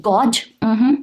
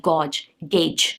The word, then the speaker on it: gauge: Gauge, not gauge, gauge. Engineer, not engineer, it's supposed to be engineer.